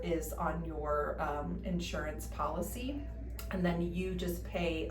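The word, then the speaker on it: Pawlicy: then that company will pay us whatever is on your um insurance policy and then you just pay us the difference that your insurance company won't pay.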